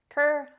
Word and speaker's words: kerfuffle: or shocked Often by something amazing or unexpected Kur fuffle let's talk about Kuru it's pronounced Kuru and it's a noun this word is used